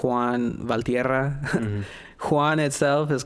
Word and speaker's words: Juan: lot of people so they would say like one like with the W like basically how I say one you want one or Guan you know on yeah